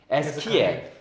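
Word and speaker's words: Ezekiel: 제가 미국에서 에스겔을 에스겔 하니까 못 알아듣더라고요. 에스겔이 아니더라고요. 에스키엘. 에스키엘이라고 하겠다고. 에스키엘. 예. 그 영어 발음이에요?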